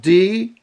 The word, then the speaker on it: Demiurge: It's spelled out D-E-M-I-U-R-G-E.